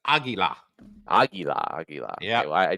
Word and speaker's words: águila: It's Spanish for eagle, which is águila.